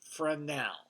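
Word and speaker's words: Fresnel: this light so yes it starts with a capital f and the S is silent frenel a frenel is usually a much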